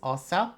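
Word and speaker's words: Åsa: I'm like, oh, so is Asa fine? And she's like, no, that's actually, I've never heard anyone say it like that. You are welcome. So it is Osa.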